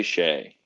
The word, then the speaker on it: Hsieh: Sorry, how do you pronounce it? Su-wei Hsieh.